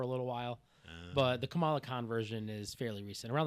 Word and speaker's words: Kamala Khan: Kamala Khan. Kamala Khan.